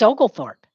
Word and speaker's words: Oglethorpe: it founded by james oglethorpe say it founded by james oglethorpe founded by james and his name is spelled og lee thorpe using or ag lee thorpe oglethorpe refuge for debtors and